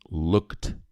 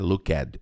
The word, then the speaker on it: looked: To look, looking, looked. Essa letra E não é pronunciada, não é looked, é looked. Looked.